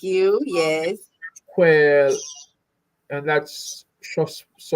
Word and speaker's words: Shropshire: Quail, and that's Shropshire. Shropshire. Shropshire. Shire. Okay. See how you trying to add a P in there? Come on. That's crazy. Oh, Spire. It's Shire, like New Hampshire.